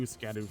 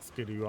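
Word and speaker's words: Scadu: I think I put in a few Scadoo fragments, but I'm not fully sure my Scadoo level is. It's not Scoo. Also, a shadow, but I'm convinced cuz I am like dedicated to just saying it wrong.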